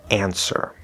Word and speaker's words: answer: W is silent, we're going to go straight into that er vowel sound, an ser.